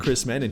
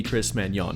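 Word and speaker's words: Chris Mañon: But let's not overlook Chris Mannon here, or maybe Chris Manon if you want to pronounce it correctly.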